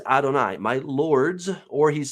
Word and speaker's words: Adonai: As it actually sounds, that's the way it's spelled, Adonai. Now, Adonai is actually a plural, my lords.